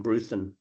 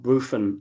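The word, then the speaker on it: Bruthen: Ju just with a quick there is a T sound in Bruthan. It's not Bruofan like uh a Londoner would say.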